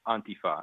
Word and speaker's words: Antifa: the point is that the emphasis is on the beginning yeah okay um tell